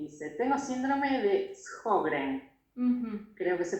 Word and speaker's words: Sjögren: Liz nos escribe y dice, tengo síndrome de Sjögren. Creo que se pronuncia así.